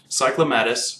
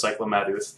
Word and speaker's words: Cyclomatus: Cyclomatus, which I refuse to pronounce as Cyclomaduth, even if they make that his official thing, Cyclomatus just sounds awesome.